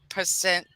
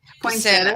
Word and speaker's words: Poinsettia: It was named as percent, percent how you say it? Poinsettia. Percenta.